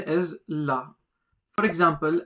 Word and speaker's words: la: The pronunciation is la. For example, la.